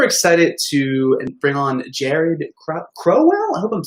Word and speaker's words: Crowelle: Crowell, like towel.